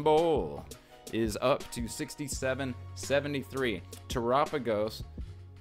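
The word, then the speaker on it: Terapagos: is up to 6773 tragos pronounced like Galapagos ex double rare from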